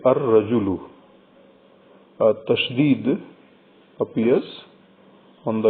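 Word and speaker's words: الرَّجُلُ: added before this word, lam of this al is not pronounced. Al is written completely, but lam is not pronounced. Instead, the first letter of the word ra is pronounced twice. We say ar-rajulu.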